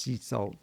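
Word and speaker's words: CECOT: as the Middle Ages CCOT. I think it's actually pronounced Cecil where people deported from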